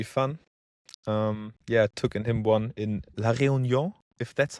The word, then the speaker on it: La Réunion: Took him one in La Réunion, if that's how you pronounce it. Yeah, that's okay. La Réunion.